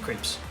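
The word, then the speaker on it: crêpe: call them yeah but crepe is how you say crepes in french and it's another one of those you gotta put emphasis on the r right so crepe so there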